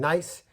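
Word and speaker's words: gneiss: last one would be nice it's spelled g-n-e-i-s-s but it's pronounced nice it's very it's infertile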